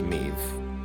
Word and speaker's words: Meve: Witcher 2 again, and the Queen of Lyria is pronounced Meve.